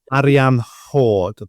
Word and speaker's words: Arianrhod: as well is that people will say Arianrhod, but the sound at the end is a, which is can't be replicated in the English language. So I've been practicing. It's Arianrhod that is more of comes from here somewhere. And the hord isn't just